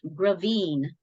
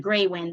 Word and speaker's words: Gravine: um by the way my last name is pronounced gravine um even though it looks like greywind because it's German so um a lot